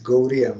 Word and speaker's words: Gaudiya: Because Gaura is Bengal, that D with, it is not Gaudiya Mat, it is Gauriya Mat. That D with dot on down, so that is soft R, Gauriya, like Orissa.